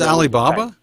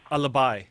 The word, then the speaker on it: Alibhai: Did you say his name was Alibaba? Ali. Yeah, I'm looking at the name. Like ALIBHAI. And he's not there anymore, obviously. Alibi.